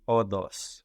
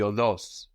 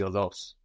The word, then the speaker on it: οδός: Η όδος. Η οδός, with the accent on the end, η οδός.